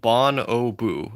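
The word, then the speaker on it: bonobo: It's pronounced bon o boo.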